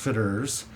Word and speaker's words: Fitterer's: definitely unique it's a rather onion name it's pronounced fitters I used kind of let it roll off